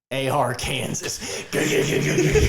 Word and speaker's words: Arkansas: AR, Kansas. oh yeah, it's pronounced Arkansas, you idiot.